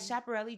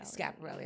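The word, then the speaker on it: Schiaparelli: That chaparelli dress was so good. And Scaparelli. I said Chaparelli.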